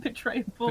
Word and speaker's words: betrayable: Is Tim eminently betrayable? Is that how you say it? Betrayable. Betrayable, yeah. Yeah. Oh, I can betray the shit out of Tim. It's great. You say betrayable like tray table, you know.